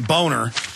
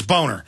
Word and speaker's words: Boehner: of his real name, Boner. I don't know. I mean, that's how it's pronounced. It's German. It's Boner.